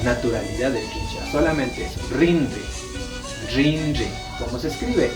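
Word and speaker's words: rinri: oreja o IRS es rindee sí la pronunciación de la r en quichua es como una doble r sí se asemeja sin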